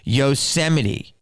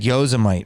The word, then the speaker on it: Yosemite: your comment above for not being able to pronounce yosemite okay because someone said gyozamite or something damn now who's disgusting okay get